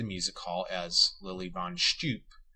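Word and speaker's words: Stüpp: She is announced on a poster outside the music hall as Lily von Stupp. The film's characters pronounce the name without any change to the vowel.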